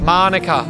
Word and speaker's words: Manuka: Manuka. Correct.